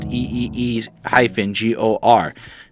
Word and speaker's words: IGOR: about Tyler comma space the creator's new album igor pronounced EEE - Geor now Tyler the creator made this big old